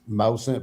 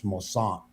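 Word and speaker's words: Moisant: It's when they say Mossant, that is a Cajun name, a Cajun French.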